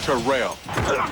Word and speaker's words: Terrell: member of the 2000 yard club and it's pronounced terrell terrell davis joins an all-pro lineup on nfl